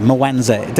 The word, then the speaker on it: Mwanza: So tell me about the area, Mwanza. Have I pronounced it correctly? Mwanza, well done, mate.